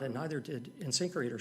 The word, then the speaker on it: InSinkErator: approximate light, medium, heavy duty that you could use for InSinkErator, this product. how do you say it? InSinkErator.